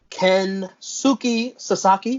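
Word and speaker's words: Kensuke Sasaki: oh yeah good stuff ken suki sasaki did i pronounce that correctly i think you did versus chris benoit you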